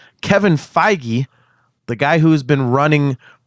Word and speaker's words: Feige: reason but as you corrected me on the pronunciation of his name Kevin Feige the guy who's been running that entire huge